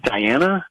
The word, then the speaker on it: Dianna: Can we send it to Diana? It's spelled Dianna.